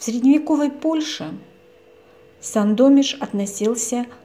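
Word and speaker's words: Sandomierz: Среди мест, которые мы посетили в последнее время, с удовольствием вспоминаю город Сандомиш. В русском произношении это Сандомир.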